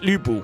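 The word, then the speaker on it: 吕布: It's it's pronounced U but your mouth goes into an I. So like E. Look at that. Yeah. So, Lu Lubu is actually pronounced Lubu.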